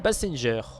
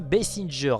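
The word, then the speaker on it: Basinger: d'une vraie actrice Kim bassinger bon je dis bien bessinger et pas bassing à la française on prononce pas la française alors pour ceux qui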